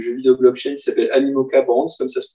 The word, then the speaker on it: Animoca: le mastodonte du jeu vidéo blockchain, qui s'appelle Animoca Brands, comme ça se prononce, A-N-I-M-O-C-A, qui est une boîte à Hong